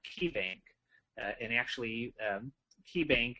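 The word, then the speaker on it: Caye: And actually, KeyBank is spelled C-A-Y-E, bank.bz, for Belize.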